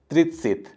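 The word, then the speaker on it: тридцать: उसके बाद त्रितसित। देखिए यहाँ पे आ त सॉफ्ट साइन है तो अत होना चाहिए था, लेकिन इत हुआ, तो आ जो है वो ई जैसा प्रोनाउंस हुआ।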